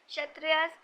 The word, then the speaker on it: Kshatriyas: Kshatriyas इसमें के silent होता है, were expected to defend the society and the land and to engage in warfare if necessary.